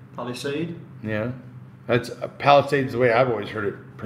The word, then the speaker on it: Palisade: It's like lemonade, Palisade.